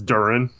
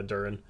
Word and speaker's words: Duren: Wait, how do you say it? It's Duren. Yeah, Duren. Okay.